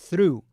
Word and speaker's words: through: O ar, depois o R, through, se tirar o R, vira though, já é outra coisa, é embora, né? Então presta atenção que esse R tem que estar aí, through.